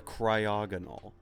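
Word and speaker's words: Cryogonal: what no poor stripper the cryogenol it rhymes with diagonal stride necrol stinko poopoo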